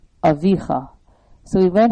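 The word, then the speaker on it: אָבִיךָ: It's not Avicha, it's Avicha. So we learn how to pronounce it based on these cantillation marks.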